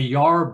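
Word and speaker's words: yarb: a uh herbal doctor a yard doctor y-a-r-b that was how they pronounced it up in the hills uh and that was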